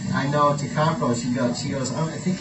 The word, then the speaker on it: Takako: So you have to say ta first. Ta. Ta ka ko. Ta ka ko. Like that. 3 syllables. Ta ka ko. I say it too fast. I go takako. Yeah, right. So it's ta ka ko.